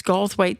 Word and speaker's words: Goldthwaite: is Goldthwaite, Texas, and it's spelled a little different than it sounds, but it's Goldthwaite, Texas, and it's Southside Tavern.